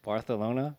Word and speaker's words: Barcelona: Dude, I remember I was in um Baralona with some buddies of mine. You're talking about Okay. What? Bartholona. That's how you pronounce it.